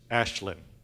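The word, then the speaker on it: Aisling: And the main character is a Gaelic name pronounced Ashlyn.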